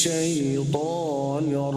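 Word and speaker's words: شيطان: শাইতান শাইতান শাইত শাইত মুখ আরো খুলতে হবে ত এর উচ্চারণের সময় ত আরো মোটা করতে হবে শাইতান শাইতান শাইতান শাইতান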